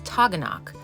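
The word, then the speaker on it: Taughannock: Now, just to be sure we have no beef with you New Yorkers, the correct pronunciation is Taganok.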